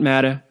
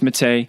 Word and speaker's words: Matta: It's not Matta, it's Matte. We're the only people that pronounce it that way, but that's how you spell it.